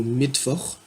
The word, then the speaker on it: Mittwoch: Donc, par exemple, dans le mot Mittwoch, qui signifie mercredi, on entend V, et bien c'est un W qui est écrit.